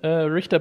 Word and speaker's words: Richter: Es wird Richter ausgesprochen.